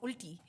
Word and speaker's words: ulti: He said it's called ulti. Ulti. U-L-T-I. Ulti literally means Ulti. opposite. Ulti. In everyday lingo, it means opposite. Ulti, But okay.